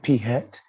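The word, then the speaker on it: p̂: right here that's px that's how you say it p hat of uh i just emphasize i know i said it but i didn't emphasize it but that's p hat all right so all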